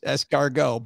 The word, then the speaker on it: escargot: put it there if you're not supposed to pronounce it very good point however in this case it is escargot but we're not here to debate that we're